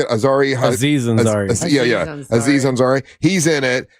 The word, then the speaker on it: Aziz Ansari: Aziz Ansari.